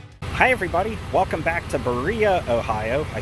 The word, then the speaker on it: Berea: Hi everybody, welcome back to Berea, Ohio. I said it correctly this time as I learned the correct pronunciation of the town. I think I was calling it Berea before, but I mean, that's just how Ohio